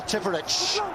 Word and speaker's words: Tipuric: Tipuric. Apparently that's the correct pronunciation.